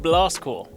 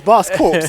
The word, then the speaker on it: Blast Corps: You guys remember a little game called Blast Core? Now, technically speaking, no. this one, It's Blast Corpse, isn't it? well, it's pronounced Core.